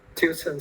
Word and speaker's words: tuition: Tuition fee. Okay, let's see how it is pronounced. Tuition. Tuition hoặc là tuition, ba âm nhé.